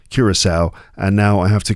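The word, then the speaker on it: Curaçao: But the next team is Curisowl. That's Curisowl. Yeah, it's their first World Cup and it's pronounced Curisowl.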